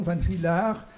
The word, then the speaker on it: Van Rillaer: prononce les R, et mon nom Van Rielaar, qui s'écrit avec AE, se prononce A prolongé, comme on le fait toujours en néerlandais ou en flamand.